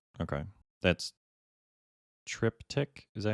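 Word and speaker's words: Triptych: the character of will Trent right okay that's trip tick is that how you say it yes trip tick then yes that's the one that I have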